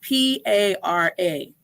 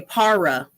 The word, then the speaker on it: para: And people say para in vez de para. Para. Sí, there are one R y doble R como la diferencia en pronunciación, ¿sí? Con estas dos letras y sonidos, dos sonidos.